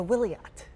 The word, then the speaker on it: Wiliot: in San Diego we are showing off the will yet I said it right yes you did joining